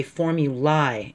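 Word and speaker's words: formulae: the word as formula now within the U.S we say form you lie and we make the I have a long I sound outside the U.S they say formula with a long e sound and that odd how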